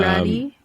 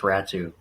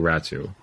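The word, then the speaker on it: Räty: and Atu Ratu, or yeah, so Atu Ratty, yeah. It's apparently it's actually pronounced Ratu. Yeah, it's pronounced Atu Ratu.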